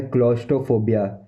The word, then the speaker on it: claustrophobia: ये है क्लोस्ट्रोफोबिया, क्लोस्ट्रोफोबिया, क्लोस्ट्रोफोबिया, क्लोस्ट्रोफोबिया, क्लोस्ट्रोफोबिया, क्लोस्ट्रोफोबिया, क्लोस्ट्रोफोबिया, क्लोस्ट्रोफोबिया, क्लोस्ट्रोफोबिया, क्लोस्ट्रोफोबिया, क्लोस्ट्रोफोबिया, क्लोस्ट्रोफोबिया, क्लोस्ट्रोफोबिया, क्लोस्ट्रोफोबिया, क्लोस्ट्रोफोबिया, क्लोस्ट्रोफोबिया, क्लोस्ट्रोफोबिया, क्लोस्ट्रोफोबिया।